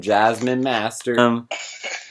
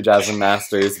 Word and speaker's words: Jasmine Masters: you know, referencing some Jasmine Master. Oh my god, I'm gonna need to, like, redo that because her name is actually Jasmine Masters, but I didn't want to pronounce the S at the end.